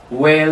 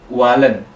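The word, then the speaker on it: Wählen: h l e n di situ ada Aum kan dibaca e dibaca e jadi Jadi dibacanya tuh Wen Wen bukan walen perlu diperhatikan kan H di tengah kalimat itu dibacanya enggak terlalu jelas k enggak kayak izhar enggak terlalu jelas jadi semua orang ya wellen bukan wehlen itu apa wellen Jadi hanya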